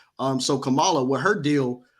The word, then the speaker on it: Kamala: Kamala. So Kamala, with her deal, like right now, I guess the conversation is with the Divine Nine and the Greeks or whatever.